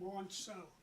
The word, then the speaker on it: Monso: Monso.